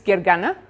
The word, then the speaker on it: Gergana: you who don't know me my name is Gary gana but I usually go by because that's a little bit easier to pronounce and you can find me on Twitter